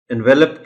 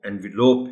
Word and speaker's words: envelope: اس کو اکثر و بیشتر اس لفظ کو غلط بولا جاتا ہے, انویلپ کہتے ہیں لوگ. بالکل غلط ہے. آپ یہ بچوں کو بتائیے گا کہ لفافہ جو ہوتا ہے اس کا انگریزی میں جو لفظ کا تلفظ ہے وہ انویلوپ ہے.